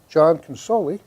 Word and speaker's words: John Consoli: our next guest and that is the comedian John consoli hello I said it right you did you